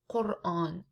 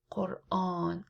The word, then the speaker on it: Quran: But in Arabic it's Quran, al-Quran, and we pronounce the A. Quran, long.